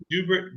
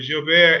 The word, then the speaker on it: Joubert: Uh, Joubert, but Joubert is not incorrect. That's just a more French pronunciation.